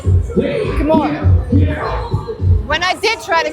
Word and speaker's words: Khmer: Kemmer? Come on. That's how you say it, right? Khmer.